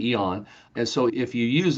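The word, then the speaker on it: AEON: Again, AON is spelled AE O N. So everybody pronounces the A, but it's really eon.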